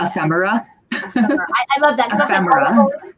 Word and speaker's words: ephemera: I wouldn't properly pronounce what I call Ephemia. Ephemera.